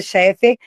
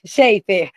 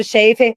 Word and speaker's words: Shefer: Eh, Dr. Ricardo Cheffer Chifer, sempre pronunciei seu nome errado. Ricardo eh, Sheifer. Dr. Ricardo Shefer, Dr.